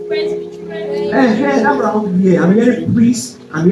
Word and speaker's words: presbytery: Let's pronounce together now. It's not correct. That's not the sound. Yes, it's presbytery.